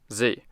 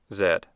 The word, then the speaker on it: Z: letter Z is pronounced Z however in most other English-speaking countries including the United Kingdom Canada Australia and New Zealand the letter Z is pronounced Zed the bikini swimsuit is